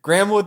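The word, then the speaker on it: Graeme Wood: was a bar y grahamwood thought that stupid was hard y you you read that sentence and you know that that is spelled g r a e m e it's it's a colonial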